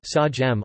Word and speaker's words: Siam: By outsiders prior to 1949, it was usually known by the exonym Siam Thai, Siam Rtgs, Siam, pronounced Sajem, also spelled Seam, Siam, or Siama.